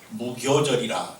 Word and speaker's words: 무교절: 그래서 무교절이라, 교자가 교라고 발음하기도 하고 효모할 때 효자인데요, 무교절 할 때는 교로 발음합니다.